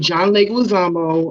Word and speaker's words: John Leguizamo: you guys she is um a producer in john leguizamo um documentary am i saying it right yes